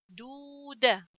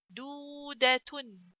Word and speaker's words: دودة: Okay, so waw comes after del, which has ضمة, so I have to pronounce this del longer. دال فتحة دا. دودة. تا ضمتان تن. دودة.